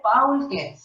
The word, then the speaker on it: Paul Klee: Pronuncia bien, no se dice Paul Klee, ¿eh? Paul Klee.